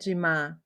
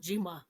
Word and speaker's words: Jimaa: Jamai. J. Um Jima. Jama. Oh, Jima.